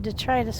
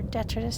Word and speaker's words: detritus: Okay, so there's just a little bit of detritus floating around down here. Or detritus, depending on which school of thought you are as to how that should be pronounced.